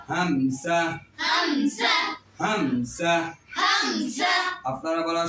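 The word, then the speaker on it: همزة: এই হরফটির নামে শুদ্ধ উচ্চারণ করতে হলে কণ্ঠনালীর তার শুরু স্থান থেকে এই হরফটি উচ্চারণ হবে। আমি এখন এই হরফটিকে তার উচ্চারণের স্থান থেকে উচ্চারণ করে শোনাবো। আপনারা শুধু শুনবেন, বুঝবেন, দেখবেন, কেউ বলবেন না। হামসা, হামসা, হামসা।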